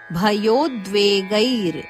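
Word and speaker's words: ಭಯೋದ್ವೇಗೈಃ: ಮರ್ಷ ಇದು ಹರಸ್ವ ಭಯೋದ್ವೇಗೈರ್ ಭಯೋದ್ವೇಗೈರ್ ಗೈಯ ನಂತರ ವಿಸರ್ಗದ ಉಚ್ಚಾರಣೆ ರದ ಅಂತೆ ಬ್ರಾಕೆಟ್ ಅಲ್ಲಿ ಕೊಟ್ಟಿದ್ದಾರೆ ಹರ್ಷಮರ್ಷಭಯೋದ್ವೇಗೈ ಮುಕ್ತೋ ಯಸಚಮೇ ಪ್ರಿಯಹ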